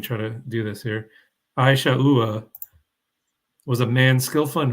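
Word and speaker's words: עשו: Pam put how to pronounce Esau. It's Isha'ua, if that helps.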